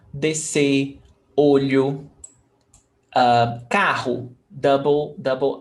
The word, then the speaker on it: descer: We've got 2 letters, S and C. SC. But the pronunciation is just S. S. Descer. One sound. Descer.